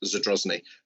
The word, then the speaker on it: Zadrozny: And just for clarity, Councillor Cotty, my name's pronounced Zadrozny. You have said it a number of times very wrongly this morning.